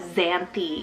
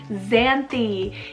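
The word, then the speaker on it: Xanthe: X name, guys, we have Xanthi, spelled X-A-N-T-H-E, Xanthi.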